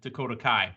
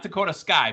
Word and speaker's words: Dakota Kai: We're talking about Ding Dong, hello, Bailey, Io Sky, and Dakota Kai. Not Dakota Sky, by the way. And, Cleveland gave her a whole bunch of hard time for saying Dakota Sky. I know it's Dakota Kai.